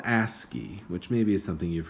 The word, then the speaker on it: ASCII: the coding system that we use it's called ASCII which maybe is something you've heard of that's how it's pronounced at least which stands for American Standard